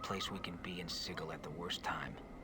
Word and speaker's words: Sigil: we can be in siegel at the worst time he calls it sigel is it supposed to be sigil i thought it was sigil well no matter as